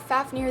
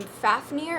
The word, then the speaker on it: Fafnir: hatchling plan for more info next we have Fafnir the elemental dragon guardian of fire and this is spelled FA F and I are but is